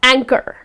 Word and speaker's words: anchor: again if you see the H comes in the middle of the word however it goes silent when you pronounce the words just gonna be she is an excellent anchor ok it's not anchor but it's just anchor right and then